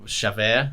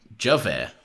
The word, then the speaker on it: Javert: Well, it's French. Javert. Is this like one of them jalapeno situations? No. It's a J. That's just the way the French pronounce J's.